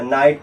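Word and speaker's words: night: अब इसे क्या पढ़ेंगे नाइट क्योंकि जीएस बनने बता साइलेंट हो नाइट पढ़ेंगे क्या पढ़ेंगे नाइट अगर ये पता नहीं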